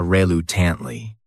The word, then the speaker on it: reluctantly: This word has 4 syllables, and the stress is on that second syllable. That third syllable also has that schwa reluctantly.